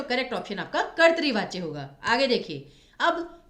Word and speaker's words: कर्तरी वाच्य: क्रिया बदल गई, तो यहाँ पर आपका फिर कर्तरी वाच्य आएगा। और इसका उच्चारण क्या होता है? कृतवाच्य नहीं, कर्तरी वाच्य, कर्तरी।